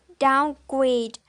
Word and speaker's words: downgrade: for example is the word downgrade so the primary stress is on the second word great and the secondary stress is on the first word down okay that's all for